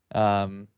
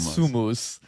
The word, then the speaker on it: somos: It's like Somos, right? Maybe I'm pronouncing it wrong, but it's like we are. Yeah. We are. Well, no, it's not Sumus. It's like SOMOS. Yeah, in Spanish, that's we are.